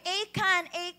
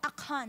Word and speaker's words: Achan: Ayan, lagi ko sinasabi, Achan, pero kinorek ako ng ating tatay na nasa US ngayon. Sabi niya, anak, you pronounce it with throaty. Ayan, diba? Rough and throaty pronunciation. Sabihin mo, Achan.